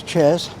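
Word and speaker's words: chare: But way up here, they're locally known as chairs. Not as not spelled like the chair you sit on.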